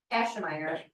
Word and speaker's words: Aschemeier: Okay, say, all right, now pronounce it for us. Ashmeyer.